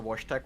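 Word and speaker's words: Wojtek: just the influenzas also wash Tech was polish I was right okay wash tag will check well his name is spelled w-o-j-t-e-k so it would be more like wash tech oh God the Polish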